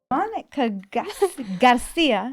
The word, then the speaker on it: Monica Garcia: Monica Garcia. Have I pronounced it right?